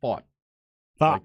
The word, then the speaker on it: Pfaadt: And his name is spelled Pfaadt, but it's pronounced Pfaadt. Like fought the war.